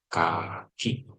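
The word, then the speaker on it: 柿: Cara bacanya adalah kaki.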